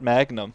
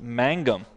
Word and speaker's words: Mangum: his name properly Magnum it's not Magnum Oh what is this Mangum Magnum Mangum with an N first you can just say